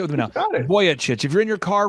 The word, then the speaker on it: Vujicic: how are you sir I'm good uh the pronunciation is voyich voyich everybody say with me now voy chit if you're in your car right now you're